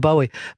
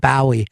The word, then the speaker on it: Bowie: David Bowie I go why do you say it that way why do you people said it's not the correct way to say it you're doing that on purpose and he couldn't defend you know that he's named after like the Bowie knife the Jim Bowie that whole thing yeah he's